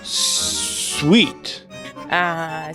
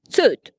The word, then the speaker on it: suit: Sweet. Sweet, no. Side. Said. Suit. And this is how it should be pronounced.